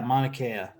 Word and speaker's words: Mauna Kea: right now, and that's for I'm going to butcher the name of the mountain. Mauna Kea? Yeah, Mauna Kea.